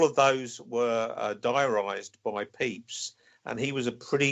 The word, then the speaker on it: Pepys: there tell us about Samuel beeps mark oh peeps is quite a very interesting character you've been explained who he is first yeah well Pete's the famous diarist and most Americans pronounce him Pepys rather than it's pronounced P EEPs and he